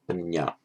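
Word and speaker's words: paññā: Pali doesn't do the jnya, so that becomes a nya, prajna, panya.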